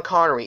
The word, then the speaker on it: Connery: And for the news, James Bond actor Sean Corny, or Sean Corey, I don't know how to pronounce his last name. Sean Connery, yeah, Sean Connery has died this Halloween, during Halloween.